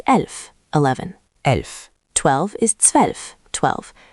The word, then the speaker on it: zwölf: 12 is zwölf, 12. Again, z equals ts, zwölf. Zwölf. Make the ts clear, zwölf.